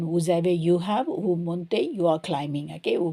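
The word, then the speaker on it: montent: Il monte, so it's a kind of ENT, but we don't pronounce it.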